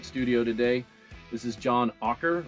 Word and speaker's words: Auker: special guest in studio today this is john ocker right that's how you pronounce it john hawker um musician extraordinaire neighbor